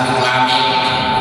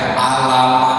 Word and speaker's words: Alif Lam Mim: Ibadah alif lam mim. Apalagi bacanya alam, alam, alif lam mim dibaca alam.